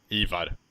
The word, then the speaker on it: Ivar: Ivar, that's his name, not Ivar.